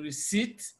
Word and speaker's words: receipt: Even though we have P in receipt, P is silent.